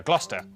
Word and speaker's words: Gloucester: Cester is pronounced stir. Leicester, Worcester, Gloucester, W at the start of the final syllable is silent.